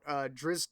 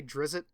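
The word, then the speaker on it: Drizzt: of short stories about drizz Do'Urden I usually just say drizzle and even though I know that's not how you pronounce it because it's easier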